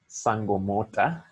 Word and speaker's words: Sankomota: a band called sankomota can you say that sangomota can you spell that for people s n-k-o-m-o-t-a now whenever the